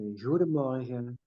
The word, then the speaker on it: goedemorgen: You know, we have a very people here have they speak with a very soft G. The G. It's very soft. It's like a goedemorgen.